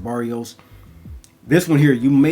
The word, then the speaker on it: Barrois: So as I pull out the Marc Antoine Barrios or Barrois, I'm hearing Barrios more now, so I'll pronounce it Barrios.